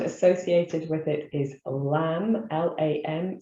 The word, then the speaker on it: lam: associated with it is lamb l-a-m sometimes pronounced lum um and that's the